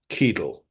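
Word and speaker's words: Cadel: By the way, if you're only listening, it's spelled uh C A D E L. Keel.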